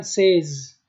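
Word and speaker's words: seize: به 6 میگن سیس و به 16 میگن سیز.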